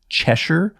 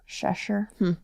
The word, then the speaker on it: Cheshire: shes cheser cheser well I've heard two pronouncements pronunciations for it chesher or cheser cheser so either way I